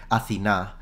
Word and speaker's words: Athena: I think I heard a modern Greek pronounce it Athena with a th already. And I find it fascinating that instead in the ancient, like Attic pronunciation, it's still a T. It's not a th. It's an aspirated T, exactly.